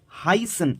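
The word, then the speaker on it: heißen: अब ये जो लेटर था जर्मन का एसेट, इसकी जो प्रोनाउंसिएशन अगर हम किसी वर्ड के अंदर अगर इसको हम लिख रहे हैं तो इसकी प्रोनाउंसिएशन स हो जाती है, स. सो वी हाइसन जी. अब हाइसन कैसे लिखा हुआ है, HEISEN, है ना. तो ई आई दोनों एक साथ आ रहा है तो प्रोनाउंसिएशन आई बन जाएगी.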